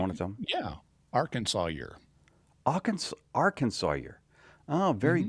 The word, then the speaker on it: Arkansas: Yeah, Arkansas year. Arkansas. Oh, very Hmm. good. You probably know the answer to this, but we don't say Arkansas. We say Arkansas, but it Arkansas.